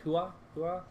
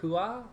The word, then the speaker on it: hooah: I always thought it was like hoorah, but I saw someone spell it on a T-shirt and it was like hooah or something like that, and I was like so confused because I didn't realize that there was no R in it, and then now I've